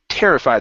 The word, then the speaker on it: terrified: where'd you go okay terrified the stress is at the very beginning instead of terrified terrified terrified a fact